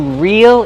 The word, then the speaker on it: reel: Like if something is real, it's not fake. It's the same pronunciation. Use a long e sound. Reel. Then the dark l.